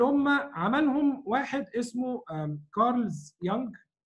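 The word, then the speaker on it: Jung: فدول الثلاث جوانب اللي هم عملهم واحد اسمه كارلز يونغ، هو بيكتب بالجي لكن هي الجي سايلنت ما بينطقوهاش في اسمه.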